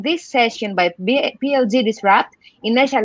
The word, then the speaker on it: Inessa: How do I pronounce your name? Is Inessa? Inessa, yes.